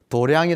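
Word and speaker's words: 道場: 우리의 영성이 깃든 장소를 도량이 라고 부르 거든요 돈은 진리도 짜고 내 앙 이라는 말은 장소 장차 한자 로 도장 이라고 쓰고 발음은 도량이 나고 그래요 근데 이거를 수월 도래한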